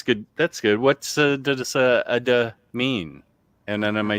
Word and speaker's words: ada: What's does ada mean? And then am I saying it right? Ada.